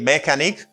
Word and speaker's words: mechanic: this word is mechanic you don't say mechanic you pronounce ch as you say mechanic mechanics someone who can